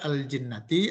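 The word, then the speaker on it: جِنَّة: Kalau baca al-jinnati artinya jin. Manakala dibaca jannati maka artinya adalah kebun atau taman atau surga.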